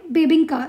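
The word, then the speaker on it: bebinca: है हाल ही में बेबि का से जीआई टैग प्राप्त हुआ या यानी कि बेबि का एक डिश है जिसको it's pronounce as बी ई बी आई एन सी ए बेबि का एक डिश है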